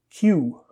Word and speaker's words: queue: This is a word that we have borrowed from French into English. The pronunciation is quite simple. Queue.